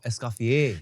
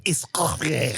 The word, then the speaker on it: Escoffier: Oh oh oh, Escoffier. Yeah, Escoffier. Now I know who you're talking about. You're saying it wrong. "Escoffier." You are putting the emphasis on the wrong syllables. No, Escoffier.